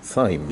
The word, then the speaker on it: Thames: Yes, it should be the Thames makes sense in French, but in English it should be Thames. Yeah. That's right. Well, that's a weird way of pronouncing things.